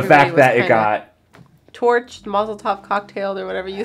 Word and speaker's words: mazel tov: i say mazel tov i think i said mazel tov cocktail baby did i say that too no